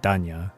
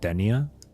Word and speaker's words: Danya: And when I heard Das Vidanya and I heard Danya, I immediately remembered that for the Japanese, Chinese, and I believe as well as the Korean language, her name is pronounced as Danya, not Denia.